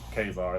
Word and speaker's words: Ka-Zar: No, KA-ZAR is the right pronunciation.